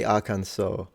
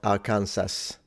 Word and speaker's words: Arkansas: a word right right the final s isn't pronounced that's why you say aranso and not Aransas what about Kanas though